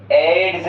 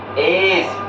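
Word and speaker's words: edge: ई डी जी ई सर एड्स। ये गलत हो जाएगा। इसको हम निकाल देंगे। डी साइलेंट हो जाएगा। तो यहां डी अगर साइलेंट कर देंगे तो बन जाएगा। एज ई सी इज। ठीक है? ईजी ई एज बन जाएगा ये।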